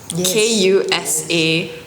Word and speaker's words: Yayoi Kusama: Okay, if you do not know how to pronounce and spell her name, it's Yayoi Kusama.